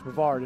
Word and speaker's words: Brevard: go anywhere I go they know how to pronounce the word Brevard not Brevard or any that they know it's Brevard and a lot of